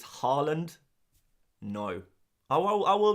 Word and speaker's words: Haaland: how I should say Haaland. Haaland is how you... It's the Norwegian... Well, it's closer to the Norwegian pronunciation. Much closer to the Norwegian pronunciation.